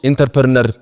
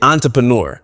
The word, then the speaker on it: entrepreneur: 3 entrepreneur entrepreneur entrepreneur። ያው አንዳንድ ሰዎች ኢንተርፕረነር የሚሉ ሰዎች አሉ፣ ግን this is the right way to say it if you want to sound like native speakers። እሺ ስለዚህ entrepreneur። ኦኬ ይሄኛውስ?